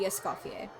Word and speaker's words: Escoffier: The French pronunciation would be escapier.